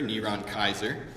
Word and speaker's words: Nero Caesar: And it turns out that if you take Nero Caesar, Neron Kaiser, as it would have been pronounced in the Greek, and if you add